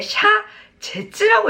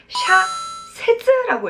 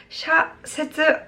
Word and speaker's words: 社説: 자, 우선 가로치고 여러분들 사설이라고 써있는데 사설을 여러분들 읽으실 때 샤제츠라고 읽으시는 분이 은근히 있어요. 틀립니다. 샤세츠라고 읽어야 된다. 이것도 기억을 하겠습니다. 샤세츠 사설이에요.